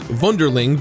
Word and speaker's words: Wunderling: But Wunderling, or rather the original pronunciation, which is Wunderling, but I'm going to say Wunderling because it's much easier for me, manages to emerge as very much its own thing.